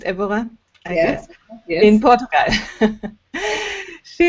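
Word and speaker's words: Évora: university of of evera that's it is it pronounced evora yes yes in portugal she has been doing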